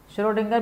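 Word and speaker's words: Schrödinger: ये स्पेलिंग है श्रोडिंगर की, श्रोडिंगर में एन भी आता है जो कि साइलेंट है, वरना कोई नाम से की स्पेलिंग से इतना कोई टेंशन नहीं है, कुछ भी अपन लिख सकते हैं।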